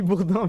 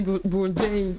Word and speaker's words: Bourdain: Anthony Bourdin, merci pour ton sub. Merci Anthony Bourdin. Mais il se faut runner avec Tu sais ses que ça se beaux prononce Anthony Bourdain, merde.